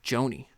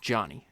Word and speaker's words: Jony: keep wanting to say Joanie. So, I don't know if I've made that mistake, but his name is pronounced Johnny. If I if you hear me mispronounce it Joanie, it's just cuz I can't pronounce any word correctly.